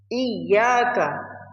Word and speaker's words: إِيَّاكَ: The ya in Iyaka has shadda, meaning it should be pronounced as if there are two ya sounds. Iyaka, I sound one, ya sound two, iya, right?